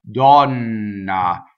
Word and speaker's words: donna: stays all pure so this one is on a stress and it's an open vowel gone na with the double n gone ah okay so